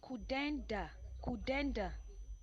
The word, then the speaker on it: Kudanda: It's pronounced Kudanda.